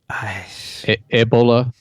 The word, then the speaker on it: Ebola: First pronunciation, Ebola virus is actually pronounced Ebola. Ebola? Ebola virus? Oh, Ebola. Virus. That's right, which is akin to not Ebola. Ebola. So the accent is on the bo.